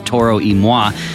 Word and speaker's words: Toro Y Moi: It starts in Spanish but ends in French, and it's pronounced like this ... "Toro Y Moi is in the house."